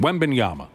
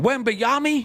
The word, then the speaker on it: Wembanyama: That's the legitimate pronunciation. Wembanyama, right? Yep. We got audio of the one guy going, Wembayami?